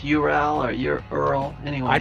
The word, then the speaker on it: Ural: The Ural Mountains is pronounced Ural Oh, by Westerners, not by okay, Europeans. okay. Well, there is no Y in Ural, so Nope.